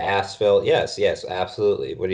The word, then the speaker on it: Asheville: you don't say gasps its Asheville with a silent H so I tell everybody when they come into North Carolina you're going to ask Phil yes yes absolutely what